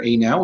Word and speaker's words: Anow: Anow is spelled A-N-O-W, as in Appraisers Now software.